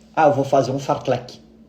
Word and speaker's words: fartlek: uma curiosidade uma curiosidade as pessoas confundem fle com Fort leve por uma questão de pronúncia então eu já vi vários vários atletas falando que vou fazer um forte leve só que ele quer falar um forle né então isso é